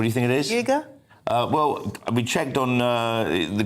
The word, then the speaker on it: Uyghur: Uyghur? Well, we checked on the Google pronunciation, and it's Uyghur.